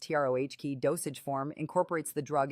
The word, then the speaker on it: troche: The lozenge or troche, pronounced TROH dosage form, incorporates the